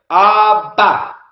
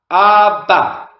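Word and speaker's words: אבא: Abba. Abba. And you can see the Aleph at the end. Don't worry about the Aleph at the end. Again, the Aleph is silent.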